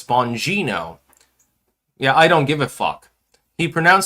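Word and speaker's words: Bongino: It's not Bonino, it's Bonino.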